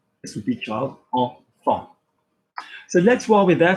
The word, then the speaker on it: enfant: the middle or whatever, you're going to say it like en. So IN was a, EN was en. Kind of again like the English word on, but you've taken the end of, okay?